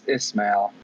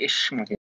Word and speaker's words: Ismail: It's but I mean, in French or like whatever, like it's Ismail. Oh, Ismail. Okay, yeah. But I mean, you're Arab, so you say Ishmael. Yeah, you could have pronounced it I smell.